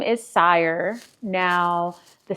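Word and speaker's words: Xire: the new name is sire Now, the spelling of it is X I R E. So, depending on the region that you're from, you may pronounce it as Zire.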